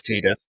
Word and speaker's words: Tidus: be said for Tidus, however you want to pronounce it, I'm not going to get into that argument now. It's Tidus.